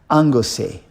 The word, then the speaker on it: Anglesey: I think that's how they pronounce it in the Welsh language. Anglesey.